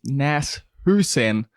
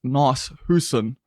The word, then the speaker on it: Nas Hoosen: Hey, just before this podcast kicks off, I need to let you know that it is Nas Hoosen, not Nas Hoosen.